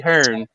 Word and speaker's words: Hearn: What's with Americans saying Eddie Hearns? Like last time I checked, there was no S at the end of Hearn.